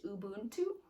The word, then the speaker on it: Ubuntu: So this one has South Africa, and the word for South Africa is pronounced Ubuntu, and so and it gives you like how